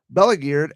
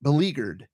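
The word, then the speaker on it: beleaguered: an agency as as bleague geared as the Oakley Police Department. Belleaguered, my bad. Belleaguered is the name. I mispronounced it.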